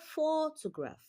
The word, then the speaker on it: photograph: So in the word photograph you can see that the first syllable is louder. Photograph it is louder and longer than other syllables.